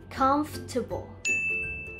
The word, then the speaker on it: comfortable: ะ ไ ม่ อ่ า น ว่ า comfortable แ ต่ เ ร า จ ะ อ่ า น ว่ า comfortable เ ร า จ ะ เ น้ น